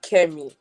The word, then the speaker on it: Chemmie: what I said is is your name pronounced shimmy or chimy it's actually kimy kimy oh okay well Kimmy